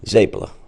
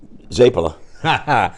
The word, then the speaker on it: zeppole: I had for you because I've heard it pronounced zapa zpp zap how do you say it properly zapa okay and if it's more than one plural how do you say it zapa so there's no ask the end I love